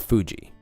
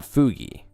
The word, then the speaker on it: Fuji: Fuji or Fugi? The thing that we use for, like, collabs and stuff. Fugi or Fuji? I call it Fuji. Because it's supposed to be for Mount Fuji, not Fugi, right?